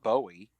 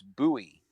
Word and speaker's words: Bowie: Here in Maryland, there's a town that is spelled Bowie, but it's not Bowie. It's Bowie.